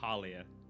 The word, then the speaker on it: Halia: Harlia. It's Thalia without the T.